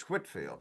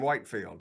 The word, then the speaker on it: Whitefield: Well, the first lesson anytime we talk about Whitfield is we have to figure out how to pronounce his name, right? You know, I mean, you can probably tell whether somebody doesn't know if they call him Whitefield.